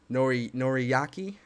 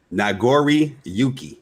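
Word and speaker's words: Nagoriyuki: Noriyaki is his name? It is Nagori Yuki.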